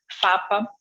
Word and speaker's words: PFAPA: E depois, ele é PFAPA, mas não se pronuncia o primeiro P.